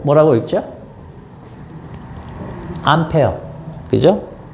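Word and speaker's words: ampere: 거 있습니다 앙페르 앙페르 사람 이름이니까 그나라 발음으로 해주고 단위 그 사람 이름 딴 거거든요 요거는 이제 암페어 어 미국식 그 영어 발음으로 해서 암페어 이렇게 부릅니다 자 자요 밀리암페어 이런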